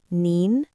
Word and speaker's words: 您: The difference is the tone. Nin is more polite and formal, and ni is more casual. So in many sentences, you can replace ni with nin to sound more polite.